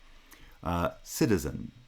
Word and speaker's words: citizen: Citizen. Citizen. Sida is the foot, followed by zun.